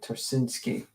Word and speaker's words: Ptarcinski: yeah yeah Arena trinsky I guess the p is silent so it's ter uh turinski I think the p